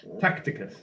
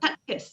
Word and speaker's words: Tacitus: Yeah, Tacticus, is that? Tacitus, yes, Tacitus, that's it, Tacitus.